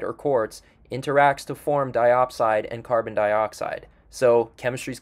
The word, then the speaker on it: diopside: The next mineral we have rhymes with dioxide but is actually called diopside, but it's basically formed in the same manner that wollastonite is in this deposit.